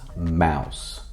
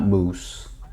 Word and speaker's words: Mous: But it's pronounced mouse, not moose.